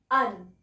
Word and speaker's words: un: French में लिखते हैं अन और बोलते हैं अ.